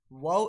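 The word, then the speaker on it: و: While wow is pronounced with incomplete meeting and rolling the lips.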